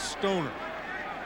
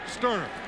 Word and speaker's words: Stoerner: him in Little League, everybody would pronounce his name wrong. They would say it was Stoerner. Well, Linda, we got it right. Stoerner.